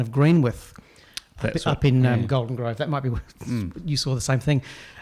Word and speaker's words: Greenwich: Facebook just yesterday someone was asking about the pronunciation of green with you saw the same thing and people were saying no it's green with whereas yeah tends to be from an English